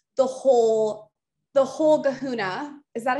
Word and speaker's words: kahuna: But if you really want like the whole kahuna, is that how you say it?